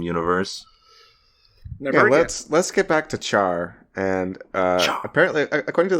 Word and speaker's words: Char: let's get back to char and uh apparently according to the dub it's not strictly pronounced char it's pronounced shar which is just crazy